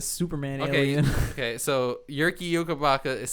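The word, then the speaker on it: Jyrki Jokipakka: Zarli Zalapski, Uh and Yerki Yoki Paka. Yerky Yoki Paka. Is that what the Y? the second one just sounds like a Superman Okay, alien. okay. So Yerki Yoki Paka is spelled JYRKIJOKIPAKKA.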